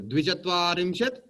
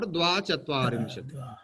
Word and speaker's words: द्विचत्वारिंशत्: Two things are there. Dvichatvarimshat or Dvachatvarimshat. Okay.